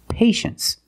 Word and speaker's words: patience: the second syllable you know that t is pronounced so this word is patience that's right patience is a noun to be